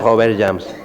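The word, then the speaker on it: Robert Jammes: ¿Cómo lo pronuncias? Robert James. James. Sí, es francés, sí.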